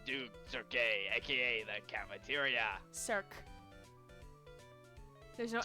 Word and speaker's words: Cirque: Cirque. There's no accent on the E, so it's Cirque.